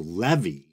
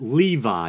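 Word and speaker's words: Lévi: first Baphomet documentary that I believe I pronounce the name elefas Levy but upon further research it appears that Levi is the more proper pronunciation so that's what I'm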